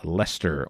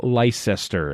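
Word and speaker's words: Leicester: film is fabulous event up in leester or if you will Lester if you want to pronounce it wrong if you want to do it wrong do that I do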